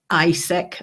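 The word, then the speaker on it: ICEC: together which is the Scottish independence convention and ISC as that's how we're pronouncing it the international commission for European citizens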